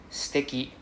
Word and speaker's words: 素敵: So the first word is sticky. Let's repeat after me. Sticky. Right? There's no U sound. The U is silent.